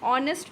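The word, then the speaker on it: honest: जैसे for example N एयर, एन ऑनेस्ट मैन, एन आर। यहाँ पे एच जो है वो साइलेंट है और साउंड आ रहा है एयर, ऑनेस्ट, आर।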